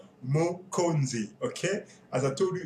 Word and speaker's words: Mokonzi: series by the way I hope you can say it properly by now already it's mozi mozi okay as I told